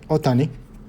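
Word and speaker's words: Ohtani: then we have Cody Bellinger um we have Otani or some people pronounce it Oh tonic this is number out of 37 40 75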